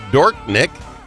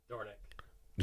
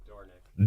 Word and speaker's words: Dornink: He is Senator Dorknik. Am I pronouncing that correctly, sir? Dornick. Say it again. Dornick.